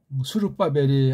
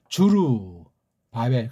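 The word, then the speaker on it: 스룹바벨: 에드라와도 관계되고 이게 학계랑도 관련되고요 발음을 원문 발음을 했으면 얼마나 좋았을까 하는 그럼 원문 배열도 굉장히 도움된다고 제가 간간히 말씀드리는 봐요. 주루 바벨 그렇게 끊어 읽는 것이 괜찮을 겁니다. 그렇죠?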